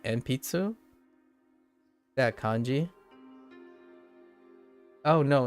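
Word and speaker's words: 鉛筆: Wait, is it still pronounced enpitsu?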